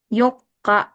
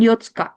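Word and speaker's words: 四日: Kite yoka yoka tuh tanggal 4. Yoka bukan Yotska Yok.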